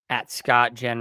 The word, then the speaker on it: Scott: Yeah, you can follow me on Twitter, Scotten Redpod. That's Scott with two T's. Second T is silent.